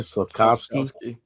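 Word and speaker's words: Slafkovský: Slafkovsky.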